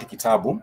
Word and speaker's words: kitabu: So I'm just saying that any word in Swahili is made up of syllables with alternating vowel sounds. Syllables with alternating vowel sounds. And I've given you an example of the word kitabu.